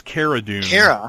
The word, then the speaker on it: Cara Dune: We have, her name is Cara Dune, but she is referred to as Cara Dune in the show.